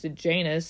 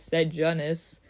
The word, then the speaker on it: Sejanus: But then again, I didn't realize until I watched Ballad, the movie, that the third to lead character's name is pronounced Sejanus, because when I read the book, I thought it was Sejanus.